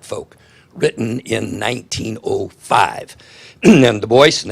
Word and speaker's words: Du Bois: And Du Bois, and that is how you pronounce his name, not Du Bois, basically what he said,